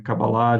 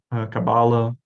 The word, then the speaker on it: Kabbalah: Um, Kabbalah, você de vez em quando ouvem Kabbalah, de vez em quando Kabbalah, ambas as pronúncias existem.